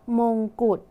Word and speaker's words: มงกุฎ: แม่กง และ คำ ว่า Good มี ฎ เป็น ตัว สะกด แต่ ออก เสียง พยัญชนะ ท้าย เหมือน ด เด็ก ใช่ ไหม คะ ดัง นั้น